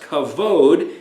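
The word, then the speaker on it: כבוד: root word then is cough bet dalit that's pronounced kavod and it means honor glory weighty regard so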